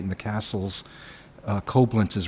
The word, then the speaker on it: Koblenz: That's I don't know how to pronounce this. Can you take a look? That's Koblenz. Koblenz, yes.